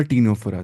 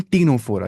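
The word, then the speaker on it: Ctenophora: Jerry's हम देखेंगे phylum टीनोफोरा यहां पे सी क्या है साइलेंट टीनो ये टीनोफोरा नहीं पढ़ना है टीनोफोरा पढ़ना है क्या पढ़ना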